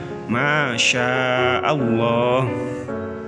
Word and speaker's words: masya Allah: Sehingga terbaca masya Allah.